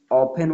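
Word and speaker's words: often: जैसे आपको पता है कि ऑफन होता है, ओ एफ टी ई एन, यहाँ टी साइलेंट भी रहता है।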